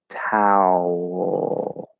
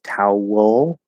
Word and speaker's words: towel: it um but we're we kind of get a bit of an l color on the out tau towel okay and you can break it sort of into two syllables tau wool that's okay it doesn't